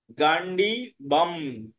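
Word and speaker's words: गाण्डीवम्: হ্যাঁ, তো সেই জন্য গান্ডি বাম, বয়ের পরে অনুস্বার থাকলে ম উচ্চারণ হয়।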